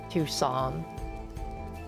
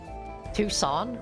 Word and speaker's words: Tucson: Tuxen is pronounced Tan. Tan. Really? How? That's insane. Tucson. Tucson.